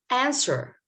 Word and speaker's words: answer: Did I pronounce C? No. Muscle. Night. Night. Not the first letter. Answer, not this letter.